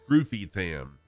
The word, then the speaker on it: Scrufytam: name should be pronounced Scroofy Tam, because there's only one F after the U, so that changes the U from a to a U. So it should be Scroofy Tam.